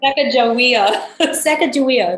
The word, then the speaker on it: Sacagawea: Sacagawea, that's it.